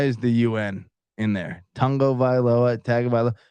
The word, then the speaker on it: Tagovailoa: it and I've said it a thousand times tagovailoa right why why is the UN in there Tango violoa like someone explained to me pronunciations of Hawaiian